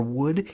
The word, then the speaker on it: would: And what's super weird about these L's in could, should, or would is listen to me saying them. You don't pronounce the L's.